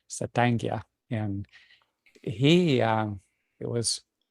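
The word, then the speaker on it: Satank: another war chief um his pronunciation of his name was saanga and he um it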